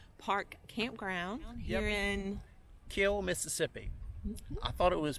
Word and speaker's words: Kiln: when the locals say the end is silent correct kill mississippi so anyway here's